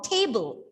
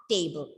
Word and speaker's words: table: and i have kept the pen on the table it's not table so again the second